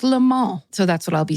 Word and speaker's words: Le Mans: So here in America, this word looks like Le Mans. It is French pronounced, obviously. It's a French word. And it's pronounced Le Mans.